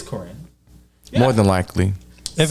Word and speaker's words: Karine: uh is corrine jean-pierre am i pronouncing her name right because i just want to make sure yeah i think you are corrine or jean-pierre i know jean-pierre but i think it's corrine it's corinne more than likely if